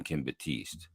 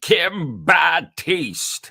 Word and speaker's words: Kim Batiste: named Kim Batiste but he didn't call him Kim Batiste he got him Kim bad taste like he added an extra syllable or there was another